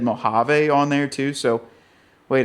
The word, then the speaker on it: Mojave: I'd imagine it's Sahara and Rubicon, and then also said Mojave on there too. So wait a second. It's Mojave.